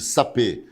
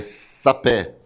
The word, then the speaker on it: sapé: Só que a palavra não é sapê, é sapé.